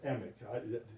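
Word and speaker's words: Emack: a real interesting cat george malcolm emac or emmick his family pronounces the emac because we've actually had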